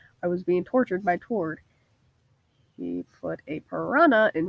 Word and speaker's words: Tord: Yeah, it's great to have you here, Todd, Matt said with a smile as he said Tord's name wrong. Tord, he corrected him.